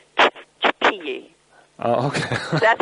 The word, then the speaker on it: Xochipilli: Yes, and actually when you're in that part of the world, anything that's an X is... It's actually an expiration of the breath through the teeth. And okay. Then so they would say, Xochipilli.